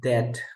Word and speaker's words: debt: um that and then when we have the BT like this then we have debt we don't pronounce the b sound here doubt out you never